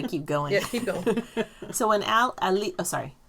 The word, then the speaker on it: Alix: going yeah so when al ali oh sorry not leaks when she says her name she elite yes over pronounces a-l-i-x though that's not the